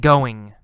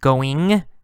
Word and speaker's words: going: We often say, "How's it going?" Or "How's it going?" The last sound, g. Sometimes G, going, going. Sometimes no G sound, goin', goin', goin'. It's the same meaning, same, just different pronunciation.